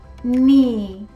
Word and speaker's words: knee: and seed was a famous night number four knee knee and number five kneel neal my knee